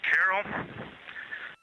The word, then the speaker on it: Carroll: And we would like to call it Carol, and you spell that Carroll.